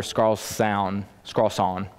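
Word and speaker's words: Skarsaune: as the shadow of the temple by Oscar scarl scon that's how you say his name so here's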